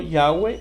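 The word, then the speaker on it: Yahweh: el nombre de él y nosotros lo pronunciamos Jehová Si usted prefiere pronunciarlo yahwe no hay ningún problema no nos vamos a pelear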